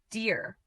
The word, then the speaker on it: dear: dear Pronounce it as dear. The second E is not pronounced separately. Together, the two E's make one long E sound.